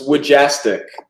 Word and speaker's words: Wujastyk: how do you say your last name it's wajastic jastic see that that sounds so cool and